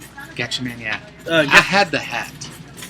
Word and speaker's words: Gatchaman: Am I pronouncing that right? Gatchaman, yeah.